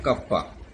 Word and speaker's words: kappa: इसके वो कहते हैं कप्पा, KAPPA, ये इसका प्रोनाउंसिएशन होता है, स्पेसिफिक कंडक्टेंस और कंडक्टिविटी।